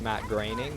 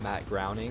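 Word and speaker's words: Matt Groening: animation so uh just so everybody knows it's pronounced Matt graining not Matt gring and that's the person who who made The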